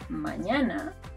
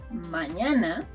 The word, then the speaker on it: mañana: So, when the N puts on its hat and casts the spelling spell, it turns into Ñ. And you'll find it in words like mañana, mañana, tomorrow.